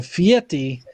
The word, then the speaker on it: Fieri: Okay, Bobby Kinston, not to be a pedantic boner, but Guy pronounces his last name like there's a T in there, so Fieti, even though it's spelled Fieri.